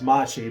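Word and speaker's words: mate: If you go to Brazil now, they refer to the tea with T, Sha, T. They refer to that as Machi, but now they spell it with a single T instead of a double T.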